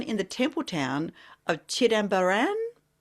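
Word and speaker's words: Chidambaram: Now you might have to correct my pronunciation here. Um born in the temple town of Chidamaran.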